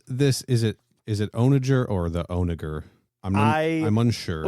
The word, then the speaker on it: onager: the internet onager onager you were right Kenny it's on a jerk onager onager he's saying it seven